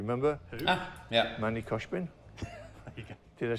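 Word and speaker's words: Khoshbin: In fact, I used it in the Manny Koshobin video. Do you remember? Who? Ah, ja. Manny Koshbin?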